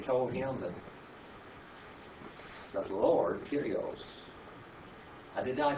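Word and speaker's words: κύριος: When he told him that the Lord, Kyrios, did I pronounce that correctly, brother?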